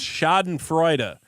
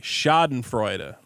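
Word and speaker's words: Schadenfreude: Joe Ray for five it's pronounced shoden Freud say it with me shoden Freud I say Shen fre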